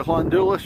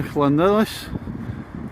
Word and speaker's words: Llandudno: which I think we'll get Llandudno right at the next one, and the next bay along is Colwyn Bay.